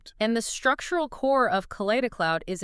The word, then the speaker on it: Kaleidicloud: And that brings us to what the source calls kaleida cloud and that's pronounced k cloud. Right. Kida cloud.